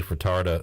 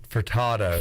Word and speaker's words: Furtado: Bryce's pronunciation of Nelly furtarda now I'm doing it Nelly Furtado is amazing oh it's uh there's no R for tata for Furtado farted that sounds kind